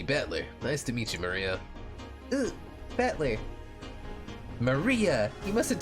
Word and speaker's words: Maria: is written that thing of course whatever is pronounced Maria the third character looks like a cross which